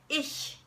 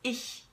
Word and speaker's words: ich: in German okay now when you make that sound you make that sound when the CH is preceded by e a boy or I okay and I'll give you a couple of examples so that you can practice so we have ich one of the most